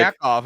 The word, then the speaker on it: Yakov: He's just like, call it, but next time call him like, Yakov and be like, it's it's the Jewish pronunciation of he's your been, name.